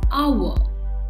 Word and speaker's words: hour: world is silent and oh you are is pronounced as hour hence the word is pronounced as our berry